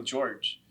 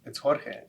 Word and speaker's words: Jorge: when people call me George. It's not George, it's Jorge. I'm Mexican born, and it's really frustrating for me. George is spelled with the G, Jorge is with the J, and it takes me